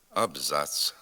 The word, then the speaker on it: абзац: синиць овець полиць вулиць виняток становлять запозичені слова наприклад абзац кварц матрац палац плац суец шліц а також окремі вигуки